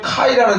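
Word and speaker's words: καί: 여러분들이 꼭 기억하시는 게 카이라는 단어예요.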